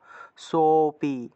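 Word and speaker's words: সোঽপি: কে আমরা কিভাবে ভাঙবো সোপি অর্থাৎ লুপ্ত এর উচ্চারণটা হবে লুপ্ত এর আগের অংশটাকে একটু টান দিয়ে উচ্চারণ করতে হয় তাহলে আমরা এখানে দুইটা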